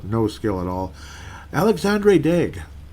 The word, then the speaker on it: Daigle: Alexandre Daig. I am saying it correctly. Not Daigle, Alexandre Daig.